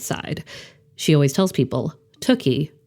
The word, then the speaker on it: Tooky: she always tells people tuie rhymes with cookie comes from Hebrew my